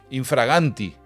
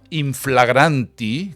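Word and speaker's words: in fraganti: los hablantes decidimos que hay que decir infraganti, por ejemplo, y no inflagranti, que es como era en latín, pues yo no tengo que estar poniéndole ahora objeciones a esa decisión en la que todos hemos convenido, ¿no? Mira, en latín será inflagranti, pero todos decimos infraganti.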